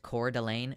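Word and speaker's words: Coeur d'Alene: comes in like that is the problem it's pronounced cor delain suck my entire dick I'm not doing it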